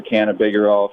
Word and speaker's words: cannabigerol: I like it because it sounds like, can I be bigger or no?